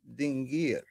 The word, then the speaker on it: dingir: it is it is red dingir pronounced dingar so the Sumerian depicted